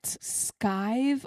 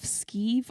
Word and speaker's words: skive: But anyway, so can you explain what skive off, skeeve off? Yeah. How do you say Skive, yeah, that was right first time.